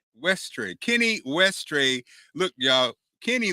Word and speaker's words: Westray: kenny how do you say your last name ashtray westray kenny westray look y'all